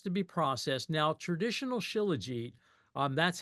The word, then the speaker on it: Shilajit: Shilajit, which actually is pronounced Shilajit.